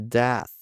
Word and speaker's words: death: Scared to death. Scared to death. Death. E aqui tem o som do TH no final. Como se ele ficasse mais que um soprado, né?